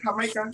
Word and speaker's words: Jamaica: We call it Jamaica. Actually, Jamaica is spelled like the word Jamaica, but the J is silent, right?